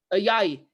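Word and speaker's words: Ayayi: Even Ayaye, Joel Ayaye, how do you pronounce his name? Ayaye.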